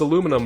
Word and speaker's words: aluminum: the comments section about how it's supposed to be aluminium and the americans are all like no it's aluminum blah blah blah truth